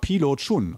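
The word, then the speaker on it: Biluochun: So habe ich dann meine Geschichte und zwar Pilo Chun, auch manchmal Bilo Chun oder so. Es wird unterschiedlich geschrieben von Teeladen zu Teeladen, aber ausgesprochen meistens so Pi, Lo, Chun oder Chun geschrieben.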